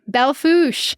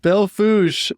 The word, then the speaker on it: Belle Fourche: Okay, Belle Fourche. Belle Fourche, not spelled that way, but that's how you say it.